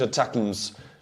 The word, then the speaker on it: ATACMS: States long-range Atacms, as you said, I should pronounce it, long-range Atacms, which have the range of 150 kilometers, and they are also clusters.